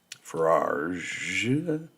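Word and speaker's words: Farage: the Nigel guy forage that's how he pronounced his last name um they got he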